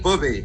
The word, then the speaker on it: Booby: No, it is Booby. It's not pronounced.